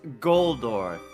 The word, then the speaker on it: Goldor: pronounced pronounced but this this is not how you spell that or pronounce that it's goldor there's an L there's an L yeah